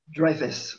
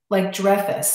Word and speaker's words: Dreifuss: Dreifuss, like Richard, but spelled differently. Like Dreifuss, like Richard Dreifuss, but Dreifuss.